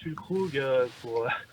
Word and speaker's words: Füllkrug: Alors, Niklas Füllkrug, pour le reprononcer encore différemment. C'est bien essayé. Il y a un petit tréma qui sert à quelque chose sur le premier U de son nom.